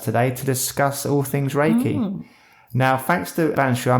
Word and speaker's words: Reiki: Ellis not reply right it's Ray Ray as in ray of light and key Ki so that's Reiki what is Reiki the